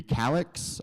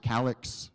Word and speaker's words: Calix: Next up, it's going to be Calix. I learned that it's pronounced Calix recently instead of Calix, but I think they know who you're talking about.